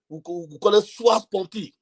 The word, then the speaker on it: sua sponte: own self request in law, we call it sua sponte. Sua sponte. The sua is spelled S-U-A, sua sponte.